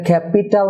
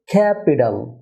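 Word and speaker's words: capital: Dear viewer, ক্যাপিটাল, ক্যাপিটাল, এটা ক্যাপিটাল না হয়ে হবে ক্যাপিটাল, ক্যাপিটাল। কারণ টি দুটি ভাওয়েল সাউন্ডের মাঝে আসছে, তাই টি এর উচ্চারণ হবে ডি, ক্যাপিটাল, ক্যাপিটাল।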